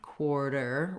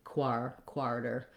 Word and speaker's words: quarter: So a word like quarter or quart, you can think of again as having that OR sound, quarter, rather than quarter.